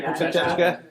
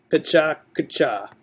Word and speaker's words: Pecha Kucha: Some people say Pachachka.